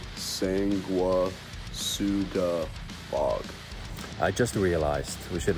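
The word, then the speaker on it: Sanguisugabogg: This is how you say it, Sang-wa-su-ga-bog.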